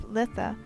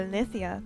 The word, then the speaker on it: Litha: One of the most prominent themes I found while researching the summer solstice was the celebration of Litha, or Lithia as I believe it's pronounced, in the sun wheel.